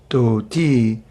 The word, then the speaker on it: dhoti: case you don't understand what a dhoti is dhoti that's the proper pronunciation of dhoti as we say in America Prabhu where's your dhoti where the brown the brown with cherries where Dodie's it's actually the Brahma cherries we're thieves but